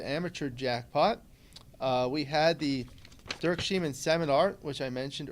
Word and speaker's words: Dirk: I had dinner with Dirk, that's how he pronounces it, Dirk Schiemann, the first night, and I was able to have lunch with Oliver and Martin.